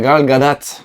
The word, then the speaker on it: Gal Gadot: Avant d'avoir Gal Gadot, c'était compliqué parce qu'apparemment il faut prononcer le T. Oui, c'est Gal Gadot.